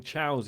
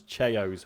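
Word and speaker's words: Chao: Spyduck says, question, I liked raising chows in Sonic Adventure 2. What is your favourite game/activity within a game? I pronounce them as Cheos. Well, that's incorrect, Spyduck. It's pronounced chow.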